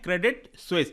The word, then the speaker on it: Credit Suisse: क्रेडिट स्विस क्या है इसका स्पेलिंग आप देख लीजिए इसको ये प्रोनाउंस करते हैं क्रेडिट स्विस आप सबको पता होगा